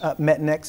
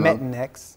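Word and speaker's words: Metanx: Metanex is one of them. It's a prescription, it's not over the counter. Pronounce that again. Metanex.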